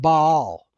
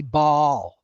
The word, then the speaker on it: Baal: If you do go back to Sumerian, Akkadian, languages, both A's would have been short and pronounced. So in the original, it would perhaps have been pronounced Baal. However, today we just truncate it and put them together and say Baal.